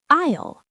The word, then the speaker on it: aisle: Islele. Isle sounds like isle. The S is silent.